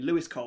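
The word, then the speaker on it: Louis Cole: just go on YouTube, type in Lewis Cole, which is spelled Louis, Cole spelled as you'd expect, and listen to some of his stuff.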